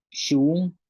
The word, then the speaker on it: xuun: Y con la X tenemos shoch, que es búho. Shak, canasta. Shun, esposa.